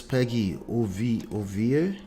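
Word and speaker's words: Peggy Ovire: Some actress Peggy Ovie, that's how you pronounce that, reacts to media personality.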